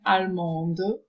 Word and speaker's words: allemande: or add an E, but there is a change in pronunciation, where you read the final consonant, where it's like allemand, allemande.